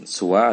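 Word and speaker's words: سوى: Wahuma ismani, dan ada dua, yaitu siwa ini asalnya siwa ya, tapi siwa ini ada lughah yang membacanya dengan suwa, ada yang membacanya sawa, seperti itu.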